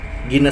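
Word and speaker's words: Guinness: Kemudian untuk nah ini Guiness Guiness Hai Guiness itu ternyata dibacanya Gina saja punya enggak usah di sebut Gina Gina saja ya Hai kemudian Hai ke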